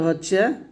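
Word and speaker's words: ح: অক্ষরটা যখন উচ্চারণ করবেন গলার মাঝে একটু চাপ দিয়ে উচ্চারণ করতে হবে এরকম এরকম শব্দ বের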